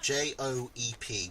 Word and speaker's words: Joep: Yoop that rhymes with soup. Joep.